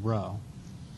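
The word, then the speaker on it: rho: Sort of a sideways P, pronounced row.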